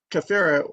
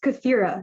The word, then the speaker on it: Kafira: Okay, my name is pronounced Kafira, you guys. Please pronounce it correctly. Just think of Shakira, Kafira. But yeah, that's how I tell people how to remember my name.